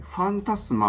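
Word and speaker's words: Phantasma: 次が、ソウルっていうコイン、ファンタスマと読みます。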